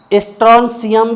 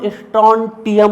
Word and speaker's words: strontium: Beryllium, magnesium, calcium, स्ट्रॉन्शियम भी बोल सकते हो, स्ट्रॉन्टियम भी बोल सकते हो, STRONTIUM। तो स्ट्रॉन्शियम, स्ट्रॉन्टियम जो आपको बोलना कोई दिक्कत नहीं।